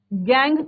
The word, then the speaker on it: gangue: वो जो इम्प्योरिटीज होंगी, वो जो अशुद्धियां होंगी, उसे गैंग कहा जाता है, गैंग पार्टिकल्स।